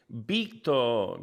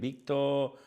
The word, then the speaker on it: Víctor: In Spanish, they would pronounce it Víctor, because the V is like a B, so it'd be like Víctor Muñoz, because some like the Z, it depends. It's like a regional thing.